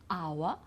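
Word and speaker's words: hour: So for example, the first one is our, okay, so we don't pronounce the H, honor, honest, and air as well.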